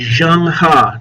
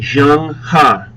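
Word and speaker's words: Zheng He: I see on the region a lot is Jang ha notice how I pronounce his name Jang ha he is a Chinese Muslim Admiral he led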